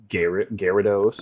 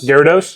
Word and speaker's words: Gyarados: people pronounce other ways that I I don't pronounce that way, but um I think my biggest uh problem is is Gyarados. Gyarados.